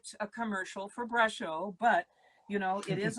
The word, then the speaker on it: Brusho: And somebody's just asking Brusho. Yes, correct. Olivia, it is spelled brush with an O. Brusho.